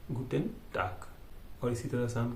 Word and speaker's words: Guten Tag: और यहाँ पे आप एक चीज़ याद रखना कि गुटेन में जी का गे किया है, जी यानी गे बोलते तो गे का ग हुआ है गुटन, और टाग में टे आ गे है लेकिन बोला जाएगा क, टाक, गुटेन टाक।